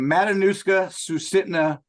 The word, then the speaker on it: Matanuska Susitna: Matanuska Sutitsa. I can't pronounce it, Chris. Where the heck are you? So the full name, Matanuska Susitna Borough, which is native names, but we just call it Matsu.